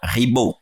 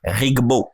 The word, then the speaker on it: Ribo: humain même mon nom Ribo je connais une sœur qui n'arrive pas à prononcer Ribo à chaque fois qu'elle doit m'appeler elle dit rigbo j'ai souvent trouvé ça